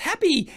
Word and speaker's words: Hapbee: the happy choose how you feel happy or pronounced happy is the first wearable that lets you feel